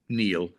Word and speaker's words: Nil: the audience that in German it it's called Neil.